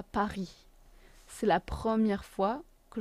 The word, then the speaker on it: Paris: C'est la première fois que je vais à Paris. Paris. Again, S is silent because it's at the end of the word.